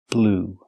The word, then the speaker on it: blew: Or the verb blow, in the past, blew. That's right. Just like the color blue, the pronunciation is the same.